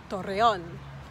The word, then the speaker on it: Torreón: And another city is, do you know how to pronounce it? Torreón.